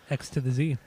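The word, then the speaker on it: Xzibit: love it love it x to the Z x to the Z exhibit baby that's how you say it every single time don't ever do it differently but lose cannons I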